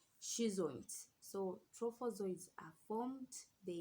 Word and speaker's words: schizonts: Yes, I don't know how you're going to pronounce this word, but it's schizoids, which is SCHIZONTS.